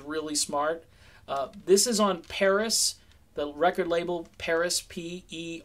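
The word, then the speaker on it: Perris: smart this is on Paris the record label Paris PE RR is I spell it because it sounds like Paris when you say it but it's Paris records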